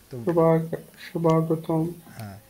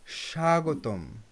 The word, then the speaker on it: স্বাগতম: আর এটা এটা শোভা স্বাগতম কিন্তু বাংলায় ব ফলা আমরা উচ্চারণ করি না স্বাগতম স্বাগতম সংস্কৃতিতে স্বাগতম কিন্তু